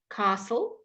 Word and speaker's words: castle: at class ah Klaus Castle did you notice something there what did I leave out tell me what did I leave out I will wait until you've typed it for me on the screen what letter did I leave out when I pronounced that Castle I'm going to carry